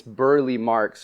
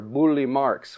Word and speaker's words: Burle Marx: coming out of and I already realized I said it wrong it's Burly marks or bully marks which is a Brazilian